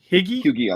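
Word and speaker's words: Huyghe: named Patrick Patrick Hagee it's h-u-y-g-h-e so if I'm butchering the pronunciation of the last name I apologize Patrick but it's a higgy on that one yeah Patrick uh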